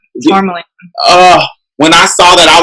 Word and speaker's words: Tourmaline: Is that how you say her name? Tourmaline? Yeah, Tourmaline.